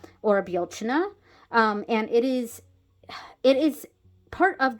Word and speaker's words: Bealtaine: I use the Irish spelling because it is a word and is pronounced Bealtaine or Bealtaine.